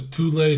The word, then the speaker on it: Thule: Yeah, it's Thule, it's not Thule. That's not how you say it.